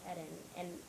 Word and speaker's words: Eden: They would say Eden. And I was like, no, it's pronounced Eden.